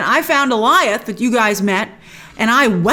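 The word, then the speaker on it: Alioth: He said, I found Eliath, correct pronunciation, I found Eliath that you guys met, and I weaponized him.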